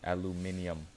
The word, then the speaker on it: aluminium: In some countries, and like, it's aluminium. They add an I in it. I pronounce it aluminum. Some of you guys might pronounce it aluminum, but someone might pronounce it aluminium.